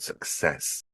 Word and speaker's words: success: a lot is success I often find that many Learners put the stress on the wrong side of that word success um second syllable for the word stress on that word success again in the first